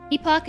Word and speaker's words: epoch: Epoch is British English pronunciation and epic is North American English pronunciation.